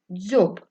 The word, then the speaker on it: дзьоб: слів дзьоб та Дзига слові дзьоб перший звук дзь приголосний м'який другий о голосний б приголосний твердий Прочитайте будь ласка дзьоб А тепер порівняємо скільки звуків і скільки слів має слово дзьоб так три звуки чотири букви та один склад слово Дзига перший звук